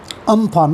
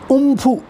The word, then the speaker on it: Amphan: हैं इंग्लिश में cyclone, अम्फान ना। इसको ऐसे याद कर लो आप, आम और फन तो सांप का होता है, अम्फान, AMPHAN। ओके, बट इसका सही उच्चारण है उम्फू।